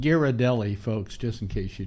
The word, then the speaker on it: Ghirardelli: By the way, that's pronounced Ghirardelli, folks, just in case you don't know.